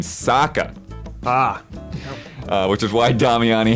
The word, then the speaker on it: Sokka: including sokka's boomerang however the character in the show pronounces his name saka ah which is why